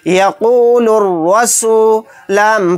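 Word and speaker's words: يَقُولُ الرَّسُولُ: यहाँ पर भी देखिए अलिफ और लाम के बाद रा आ गया। रा हुरूफ शमसी के 14 हरूफ में से एक हर्फ है। तो यहाँ पर अलिफ और लाम दोनों को साइलेंट कर देंगे, बल्कि बाद वाले हर्फ रा के साथ लाम को मिलाएंगे।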